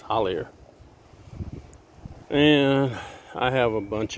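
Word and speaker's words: Hollier: air some people say holiday if you pronounce it like it's spelled it's hollyer and i have a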